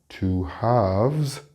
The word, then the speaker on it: halves: Notice the pronunciation between the plural, which has the V sound, 2 halves.